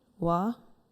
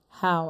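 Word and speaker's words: Hao: Hua? Is that correct? How is it spelled? H-O-A, I'm sorry. H-A-O? H-A-O, I'm sorry. All right. What is the correct pronunciation? How?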